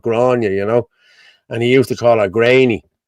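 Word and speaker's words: Gráinne: And she used to say, "My name is Grania." Well, it's fucking spelled Grainy. Okay, so I'm gonna say Grainy.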